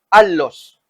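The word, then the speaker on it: ἄλλος: Alos es la pronunciación en griego, consolador, para que esté con vosotros para siempre.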